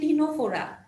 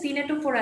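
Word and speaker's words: Ctenophora: মনে রাখবা অবশ্যই বাট উচ্চারণটা খেয়াল করে পড়বা যে এটা হচ্ছে টিনোফোরা ঠিক আছে সিনেটোফোরা না বাংলায় লিখা থাকলে কিন্তু টিনোফোরা লিখা থাকবে আর সিওনোপ্লানা একটু খেয়াল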